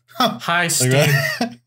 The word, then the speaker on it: Hasten: If you wanted to pronounce it in Old Norse. Fair. There's the double N is like it's like you're breathing out through your nose really hard. Yeah. Like a scoff.